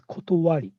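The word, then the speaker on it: 理: We can pronounce this kanji character as kotowari.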